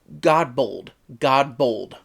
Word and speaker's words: Godbold: Godbold. Directed by Gary Russell, with art by Perry Godbold. Okay, I did say it right.